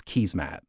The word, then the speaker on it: Keesmaat: The King Street pilot was championed by Jennifer Keysmat, the chief planner of Toronto at the time. And to my Dutch audience, yes, Canadians pronounce this surname as Keysmat.